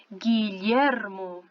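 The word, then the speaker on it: Guillermo: Em que você tem que acrescentar um U. Então, por exemplo, eu tenho aqui Re, U, I para formar o nome Guilhermo, ok?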